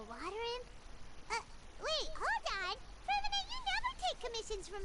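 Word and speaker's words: Freminet: From Annette? From Annette? Fremine. Gotcha. Because the T is silent.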